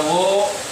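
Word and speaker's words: 워: Nomor 8 itu dibaca wo. Kenapa dibaca wo? Karena gabungannya dengan O, atau huruf akhirnya adalah O. Maka ini dibacanya wo.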